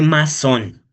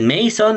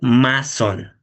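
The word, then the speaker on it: Masson: Y el primer tricrómico es el tricrómico de masón, ¿vale? No es tricrómico de meisón, no es tricrómico de ninguna otra cosa, tricómico de masón, ¿vale? Así se pronuncia.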